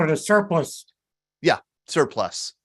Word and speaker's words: surplice: Todd, it was called a surplus. Surplus. Not a surplus, but a surplus. It's spelled with an ICE, but it's pronounced as if it were surplus.